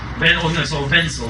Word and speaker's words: Wensley: Wenzel is how it pronounces his name, who was a probationer in Whitechapel at the time of the Ripper murders.